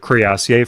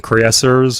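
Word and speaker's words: cuirassier: where I mentioned the crassier from civ4 I know some people call them creasers or whatever um I think there's a few viable pronunciations for that one if I'm not mistaken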